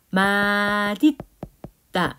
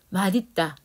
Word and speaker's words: 맛있다: 이렇게 되고 얘를 연음시켜가지고 마딨다 이렇게 돼야 맞아. 마딨다 이렇게 마딨다 이렇게 발음해야 돼.